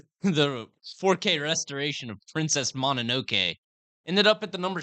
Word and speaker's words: Mononoke: Monomoke. Okay. Let's go to this. Mononoke.